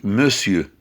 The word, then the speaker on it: monsieur: un monsieur un monsieur ça s'écrit mon dieu ça se lit monsieur un monsieur des messieurs